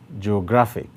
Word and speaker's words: geographic: The last one, geographic, geographic. Now, this one has three syllables as well. And the place with the greater emphasis is on gra.